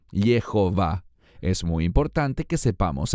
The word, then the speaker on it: Jehová: futuro ha ji yii cualquiera que conozca un poquitín de hebreo sabrá que es imposible pronunciarlo yahwe debe decirse Jehová es muy importante que